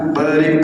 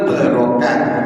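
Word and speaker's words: وبارك: Jangan wa barik, wa barokah wa salam.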